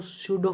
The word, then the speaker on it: pseudo: तो स्यूडो की स्पेलिंग आपको याद रखनी है, PSEUDO, पी साइलेंट रहता है जैसे निमोनिया में रहता है, तो पी साइलेंट हो गया, तो स्यूडो SEUDO, तो पी स्यूडो NYM निम।